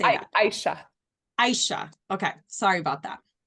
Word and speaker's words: Aisha: Aisha.